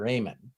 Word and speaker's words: Amen: at his name is Dr Ayman and Dr Ayman has done and it's spelled like amen all right and we